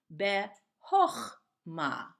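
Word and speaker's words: בְּחָכְמָה: Oh instead of ah bet oh ma ok what's with that grammatically sometimes depending on what letter is following we change the AH into oh you can see it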